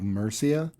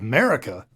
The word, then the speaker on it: Mercia: It's called Wolves of Mercia, which, the way that it's spelt, like 10 times out of 10, someone will look at it and say, Wolves of America! and it's, no, those 2 letters are in the opposite order.